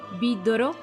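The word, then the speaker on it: ビードロ: Vidrio es vidoro y frasco es frasco.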